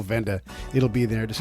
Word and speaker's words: Wende: The Venda Museum is spelled, it's Wende, so it's spelled the German way.